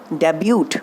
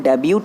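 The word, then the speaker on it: debut: ने क्या अपना बेटा डेब्यूट अरे नहीं-नहीं बेटा स्कूल डेबिट नहीं स्कूल डेब्यू पढ़ा जाएगा इस मिट्टी की जो साइड है वह नहीं बोली जाएगी मतलब टीम जो है वह साइलेंट रहेगा ठीक है क्या आप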